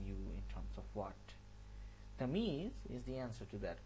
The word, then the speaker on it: Tamyeez: Better get the pronunciation right. It's Tamyeez, not Tamyeez. It's Tamyeez.